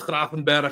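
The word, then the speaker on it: Kerkez: Either he will go to Liverpool and would do the whole super team situation with Isach, with Salah, with Verts, uh with Kraen.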